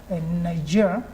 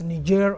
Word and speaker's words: Niger: Of course, some pronounce it as Niger, others as Niger, the French call it Niger.